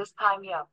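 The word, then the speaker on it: dysthymia: इसको पढ़ना कैसे है, तो डिस्थाइमिया, उसको थाई के हिसाब से डिसथाइमिया ऐसे प्रोनाउंस करना है, डिसथाइमिया।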